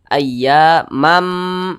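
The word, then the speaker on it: أيامًا: Maka dibaca ayyamam. Jangan dibaca man, tapi mam. Masuk ke huruf mim.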